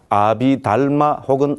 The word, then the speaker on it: 아비달마: 그런데 아비달마 혹은 아비다르마는 산스크리트를 발음한 것이고 아비담마는 빨리어를 발음한 것이다.